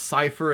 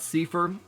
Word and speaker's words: Cipher: allegedly taught people that it's pronounced Cipher and not safer so I got that